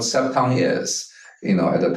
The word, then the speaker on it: Cepton: Consumer vehicles and actually I want to correct your pronunciation of septon C it's it's actually not Soo much of a correction just a uh explanation of what sep Tong is you know at